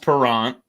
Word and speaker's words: Parent: flyer's goalie bernie parent it's pronounced perrant uh and it was